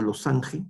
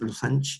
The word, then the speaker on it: losange: de rombo no que en francés rombo se escribe como losange con g losange en francés los anch no la famosa losan es un snobismo En todo caso pero